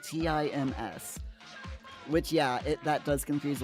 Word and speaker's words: Thames: Yeah, it's not pronounced Thames. It's pronounced as though it was spelled Tims.